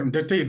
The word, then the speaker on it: Ndetei: I don't know how to pronounce it correctly, Ndetei, or how do you? Well, Ndetei, that's fine. You have done very well.